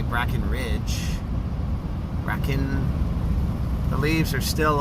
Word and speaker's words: Brackenrig: Or is it Breckenridge? No, it's spelled Brackenrig. Unless you say Brackenridge.